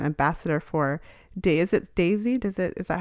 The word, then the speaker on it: Daysy: is as an ambassador for for is it Daisy does it is that how you say it